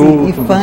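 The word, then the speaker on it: IPHAN: da cultura n é essa sigla IP h a n é né pronunciando-se e fã Instituto do patrimônio histórico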